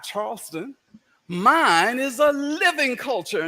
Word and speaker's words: Charleston: Gullah Geechee culture exists all around you as you walk about, dine, and sightsee throughout Charleston. Now, that's how Gullah Geechee speakers pronounce the word Charleston, not Charleston.